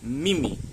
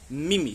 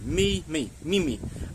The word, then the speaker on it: mimi: so we're looking for a really strong I sound, like the letter E in your A, B, C, D, E.